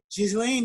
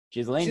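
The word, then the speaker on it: Ghislaine: pronounce her name so do you not a pronounce her name oh it's a she's laying Maxwell she's laying Maxwell do you think Jews lay Maxwell the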